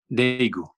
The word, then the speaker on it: Daegu: So you travel to, you pronounce it Daegu? Daegu.